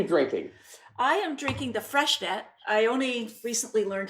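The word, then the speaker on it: Freixenet: I am drinking the Fresh net I only recently learned how to pronounce that I used to say freenet like it was some sort of hairspray but and some people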